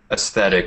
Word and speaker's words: aesthetic: are asking about the pronunciation of aesthetic it's pronounced aesthetic it's sometimes it's even spelled e s t